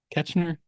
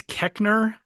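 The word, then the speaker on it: Koechner: David Ketchner. Oh yeah. I think it's Keckner.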